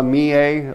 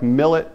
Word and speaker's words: Millet: be this painter francois me a looks like millet but the french pronounce it me a and this one's called the sewer francois mia like most of these